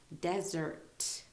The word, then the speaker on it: desert: desert is a noun there's emphasis on the de part of the of the word and then it is pronounced like a z desert okay and um a